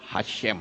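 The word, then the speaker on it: השם: hei sin mesofit Hai itu membacanya Hasyim Hai Kalau benar ini Hasyim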